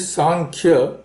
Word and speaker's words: सांख्य: एनी वे the pronunciation is सांख्य and there a very similar word in Sanskrit that is संख्या.